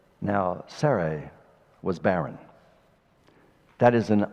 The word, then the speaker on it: Sarai: It's Sarai, which sounds a lot better than Sarai or something like that.